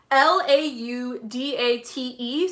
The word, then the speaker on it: Laudate: It's called Laudate, so like laudate. Oh, laudate is how it's pronounced. It's Latin and it means I praise God.